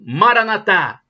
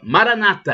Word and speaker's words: Maranata: Clamo Bora Natan é como dizem os católicos um a tônica na última sílaba Maranata os protestantes dizem com a tônica na penúltima sílaba Maranata é o significado é